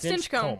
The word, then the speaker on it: Stinchcomb: Is Yeah, it Stinchcomb. Stinchcomb. You just gotta Stinchcomb. power through it. Stinchcomb. Do Yeah. you say comb? Yeah. Okay. Like your hair.